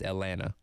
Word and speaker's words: Atlanta: which you also have here but people like pronounce the t's Montell no it's Monella just like there's no te in Atlanta it's Atlanta right when you're from Georgia when you're oh